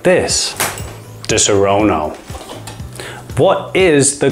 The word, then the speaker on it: Disaronno: say it like this disarono what is the correct pronunciation and how do you say it I think the way I say it is correct because it's most like the Italian Disaronno